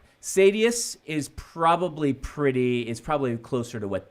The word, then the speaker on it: Sadeus: No, Sadies is the Sunmaker. Sadius is Sadius. Sadius is said by some people. It's okay either way. I say Sadius. But Sadius is just wrong.